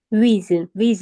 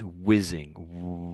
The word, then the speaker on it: whizzing: The H is silent basic, so ignore the H if you can. And so it's whizzing.